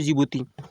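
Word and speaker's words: Djibouti: सा तो जिबूती जिबूती जिबूती की जो स्पेलिंग है वो डी से आरंभ होती है ये वाला जो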